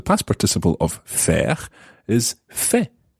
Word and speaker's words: fait: pattern so the past participle of fair is Fe say that's spelled f-e-i-t so to see I have done